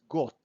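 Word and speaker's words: год: god god means year so we pronounce it like we say t at the end got but when you write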